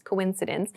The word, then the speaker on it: coincidence: It's pronounced coincidence. Coincidence, it means that two things, two or more